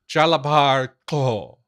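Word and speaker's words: Jalabar Xho: So I, in my head, consistently pronounce this guy's name Jalabar Ko, because that's the only thing I can think of for its XH.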